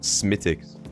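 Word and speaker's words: Smithwick's: right let's start okay Smith Wix is pronounced smicks is it really why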